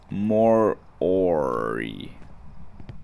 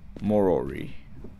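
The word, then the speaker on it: Moroi: in first actually more it's pronounced more ory morory huh hi how you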